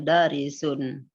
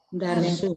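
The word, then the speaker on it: درس: Hadza darisun sahilun. Darsun. Coba diulang. Hadza Darsun sahlun. Haza darisun. Nah, itu dibacanya bukan dari sun tapi Darsun.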